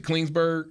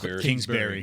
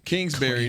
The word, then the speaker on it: Kingsbury: guess I'll make this comparison Clint was it cleansberg what's his name Kingsbury yeah I can't say his name Kingsbury no disrespect okay in Arizona both young coaches